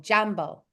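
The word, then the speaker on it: Jaambo: down the word Jambo it sounds it's spelled just like it sounds j a a m b o Jambo hello it is a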